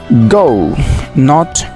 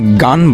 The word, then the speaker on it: gone: এটির উচ্চারণে তোমরা অনেক সময় ভুল করে থাকো, GONE। এটিকে গান বলো, আসলে গান হবে না, এটি হবে গন, নট গান।